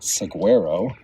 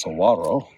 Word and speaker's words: saguaro: in saguaro national park we've already learned that it's not seguero it's saguaro so they use a traditional spanish pronunciation apparently um i'll probably